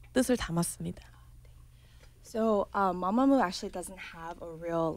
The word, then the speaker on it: MAMAMOO: 그 발음이 맞는지 마마무가 맞는지. 편하게 해달라고. Just say comfortably. Mamamoo is fine. Mamamoo.